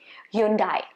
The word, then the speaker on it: Hyundai: The name of the brand is supposed to be Hyundai. Okay, Hyundai. And there are a lot of pronunciations from different parts of the world is the correct pronunciation. So the last syllable is supposed to be day, but I think the